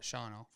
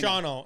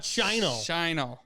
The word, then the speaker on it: Shawano: Shawano. I'm never. Can I please? Shawano. I have to do this to you every time you bring up the word Shawano. It's not Shino.